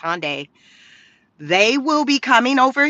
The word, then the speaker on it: Hyundai: So over the weekend, I think it was yesterday, President Trump announced that Hyundai, yes, I think it's Hyundai, it's pronounced Hyundai, they will be coming over to the U.S.